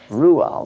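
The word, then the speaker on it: Roald: correct pronunciation of her husband's name, uh, Rayold. Ruall, that's pronounced.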